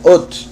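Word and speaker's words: אות: Curiosamente, señal en hebreo es ot, es como se pronuncia, ot, que también es una letra.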